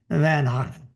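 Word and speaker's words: Van Gogh: Everywhere you go, there's a Van Go or as they say in his real name, they really called him Van Hawk. So, uh that's how they pronounced it.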